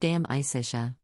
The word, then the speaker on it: De Amicitia: We finished Livy and De Senectude and are now engaged with De Amicitia, pronounced Dam Isitia.